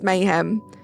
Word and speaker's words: Mayhem: thank you so much look at me trying to over complicate it and it's Mayhem thank you so much Mayhem what's up hiod look at Zan you're not the first to say it wrong thank you for making me feel a little bit better there Mayhem I will definitely remember now that it's Mayhem if you do pop